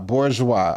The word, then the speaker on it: bourgeois: Bourgeoa. Okay, we got it. Bourgeoa is how you say the word.